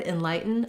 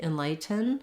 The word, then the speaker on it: enlighten: light and then in in the word enlighten i can say it with a true tea enlighten enlighten but most native speakers are gonna use a stopped t there so you're not gonna hear the release of air on the